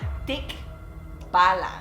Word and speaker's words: tikbalang: mythical creature in the philippines that we call tick balance can you pronounce it with me thick bala this creature is actually a kind of like